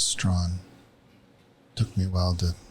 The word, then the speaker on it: Strachan: Yeah, well, the chat overwhelmingly says it's Strawn. So until I hear otherwise, that's how I'll be pronouncing the name. Because when we had the World Women's Competition, they pronounced it as Strawn.